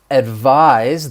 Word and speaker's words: advise: like an s advice advise that's the verb to advise someone and in this case that s is gonna have more of a z sound that voiced z advise